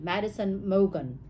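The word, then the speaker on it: Madison Mogen: bed next to the body of Madison Megan Madison Morgan is how you pronounce it Madison Logan yeah so the DNA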